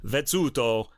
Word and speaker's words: Vezzuto: I'm going to say it's pronounced the Italian way, Vezzuto, because I want them,